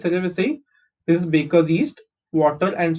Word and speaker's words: cerevisiae: Saccharomyces cerevisiae. Okay, how do you pronounce this? CEC, RE is re, VI is V, SI is C, A is A. Okay, cerevisiae.